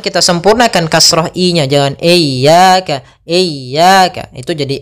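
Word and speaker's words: إياك: kita ulang iyaka iyaka ada dua kesalahan yang sering terjadi dalam pelafalan iyaka yang pertama memanjangkan I memanjangkan memanjangkan I apabila dipanjangkan huruf i-nya banak contoh iyaka salah karena dia memanjangkan yang kedua adalah menahan iaka itu salah juga usnya dia cukup menekan linnya iyaka iyaka kemudian kita sempurnakan kasrah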